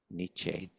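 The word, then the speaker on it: Nietzsche: I I found it to So profound what Nichi said and how do you pronounce it again? Niche niche that that he said I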